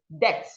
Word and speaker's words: debt: The B is silent, so you should go debt.